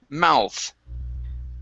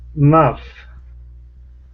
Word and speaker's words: mouth: word mouth okay so give me a th sound at the end of that word mouth muff okay one more time mouth mouth all right very good uh